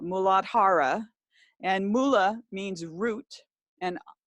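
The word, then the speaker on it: Muladhara: one is called well when I say it correctly here in Sanskrit the mooladhara and mula means root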